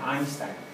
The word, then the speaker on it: Einstein: se apellidaba Einstein se escribe Einstein pero se pronuncia Einstein elongo e i se pronuncia a i entonces